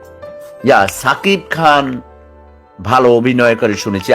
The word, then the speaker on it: সাকিব: এখানে সাকিব হবে না, লেখে দন্তস দিয়ে উচ্চারণ করে সাকিব। নো, SAKIB, সাকিব, ঠিক আছে?